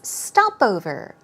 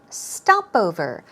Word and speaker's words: stopover: for you is stopover as you see the stress goes we're right there on the first syllable its stopover stopover Martin talked about how